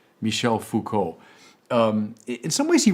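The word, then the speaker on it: Foucault: And that leads me to the final of these four players, namely Michelle Fuko.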